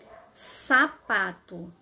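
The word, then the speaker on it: zapato: igual ao S são a letra Z em espanhol ela tem som de s ela não vai ter o som do Z Que nós conhecemos em português vamos ver nos exemplos sapato sapato em espanhol sapato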